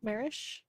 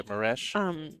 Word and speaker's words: Maresh: I might mispronounce her last name. Marish, who runs the APA down here. Maresh? Yeah, Maresh.